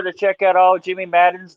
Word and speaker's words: Maddon: Everybody, be sure to check out all Jimmy Maddon's. Did I say it right? Yeah, that's Maddon? right, man.